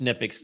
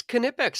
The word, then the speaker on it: Knipex: So, yeah, I think it Y is just Nipix, silent K. No, I think it's Knipex. I watched a video of a worker that worked for them, and they pronounced it with the hard K.